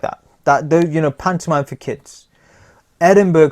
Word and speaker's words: Edinburgh: Edinburgh Festival, or Edinburgh Festival. I keep calling it Edinburgh, like iceberg, because it's so cold.